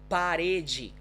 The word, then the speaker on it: parede: Parede. Parede. Right, so as you see, I don't actually vibrate my tongue a lot, but that's where the sound comes from. It's parede.